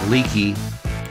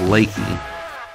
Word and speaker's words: Leakey: some really nice cabins in the town of Leakey did I say Leakey it's pronounced lately yeah one of the best ways to experience